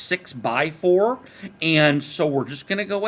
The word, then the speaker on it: 6x4: When it says 6x4, that's pronounced 6 by 4, and so we're just